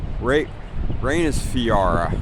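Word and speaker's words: Reynisfjara: Ra Reus Fiara I think is the way that's pronounced.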